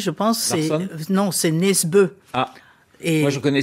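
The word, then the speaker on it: Nesbø: Voilà nesbe enfin en France ça se prononce nesbo.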